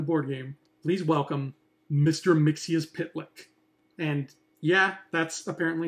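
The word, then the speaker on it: Mxyzptlk: Mixius Pitlick.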